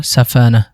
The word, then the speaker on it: সাফানা: 23 number নামটি সাফানা এবং আরবি শুদ্ধ উচ্চারণ হল সাফানা।